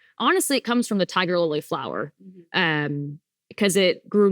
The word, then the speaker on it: Tigirlily: So, honestly, it comes from the tiger lily flower um cuz it grew naturally in our parents' backyards. And then later on, we added on gold just for several reasons, but tiger lily gold.